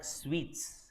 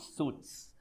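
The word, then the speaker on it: suites: do you pronounce this it's called sweets not suits suit is your coat suit sweet is a is a type of room sweet as in how you say this ladu sweet just like that the pronunciation is one and the same fine okay so it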